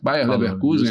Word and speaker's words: Bayer Leverkusen: Eu falei certo? Bayer Leverkusen, é assim mesmo que pronuncia.